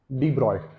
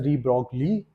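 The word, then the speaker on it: de Broglie: जी एल आई ई बट you don't have to read it एज डी ब्रॉग ली डी या फिर डू and then you गो फॉर ट्स ब्रॉय ठीक है सो डी ब्रॉय ने actually बात की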